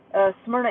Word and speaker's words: Smyrna: Smyrna Airport, which somebody please tell Max Velocity that it's pronounced Smyrna.